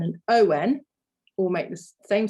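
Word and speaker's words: ans: a n is on and years with the s on the end is also on so this is a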